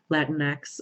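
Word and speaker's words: Latinx: of saying that so if you're not aware Latin X is how we pronounce it that's how it's spelled you just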